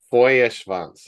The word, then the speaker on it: Feuerschwanz: yeah cool um so let's see if I can do this properly for Vance is that right oh very good very good yeah Beauty this is a very good pronunciated uh good good to